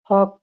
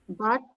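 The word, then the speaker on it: Huck: town didn't like him হাক Tom like হক আচ্ছা হক বলবেন না হাক বলবেন হাক হাক হ্যাঁ হাক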